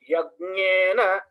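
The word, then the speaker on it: यज्ञेन: Then pronunciation, Yagnena, Yagnena, you say Yagnena, Yagnena, that is Hindi. It is with ig and nya. Yag. Ig at the bottom of the throat, base of the throat.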